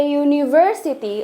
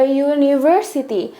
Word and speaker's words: university: Oke, yang kedua, a university. A university. Miss, kenapa university pakai e, sedangkan huruf awalnya itu bukan konsonan? Karena walaupun huruf awalnya itu vowel, tapi kita bacanya university, bukan university, ya kan?